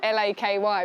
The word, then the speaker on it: LAKY: It was like L-A-K-Y, but pronounced LAKY.